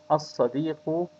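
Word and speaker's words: الصديق: Al-sadiqu means the friend, and the lam is not pronounced.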